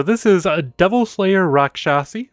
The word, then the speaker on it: Raksasi: is a double Slayer Rock shassy which I know is the correct way to say that because I watched a video about I think it was DND D there was a word that looked like that and that's how was pronounced and I am rolling